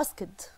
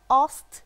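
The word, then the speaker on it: asked: الاي دي دي ليه انا بنطقها اسكد؟ والله لو رقصنا لها ينحق القول، عمري ما هنطقها اصت صح لو فضلت مصر اني انطق الدي اللي في الاخر. طب الاي دي اللي في اخر اصت دي بتتنطق ايه؟ تي اصلا.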